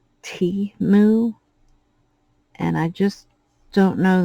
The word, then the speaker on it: Temu: trouble pronouncing things so I call it TAMU and it was pointed out that it's T moo and I just don't